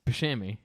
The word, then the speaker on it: Buscemi: How do you say it? It's Buscemi. Yeah, I'm Can not you cut my saying.